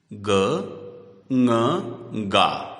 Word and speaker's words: गंगा: जैसे गंगा में अनुस्वार के बाद का वर्ण ग क वर्ग का है, इसलिए अनुस्वार का उच्चारण करते समय ङ उच्चारित किया जाएगा। गंगा, ग ङ गा, गंगा।